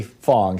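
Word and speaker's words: Fang: his twitter handle if you're not following lee fong spelled f ing if you're not following ly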